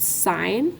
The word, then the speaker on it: sine: have names they're called sign and we pronounce it sign like a stop sign and we abbreviate it